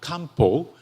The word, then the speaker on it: Kampo: And uh actually tra traditional Japanese medicine is uh pronounced in kampo in Japan.